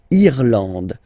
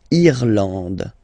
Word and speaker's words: Irlande: Remember, this is E and it should be pronounced like E. Irlande. Irlande. Okay, A-N, en, D, and final E, not pronounced. Irlande.